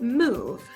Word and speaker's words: move: Same thing with move, right? The E is silent.